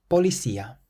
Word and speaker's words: policía: Policía. Policía. Or policía. Policía. This word means police, and the C is followed by an I, so you can pronounce it either like an S or a TH.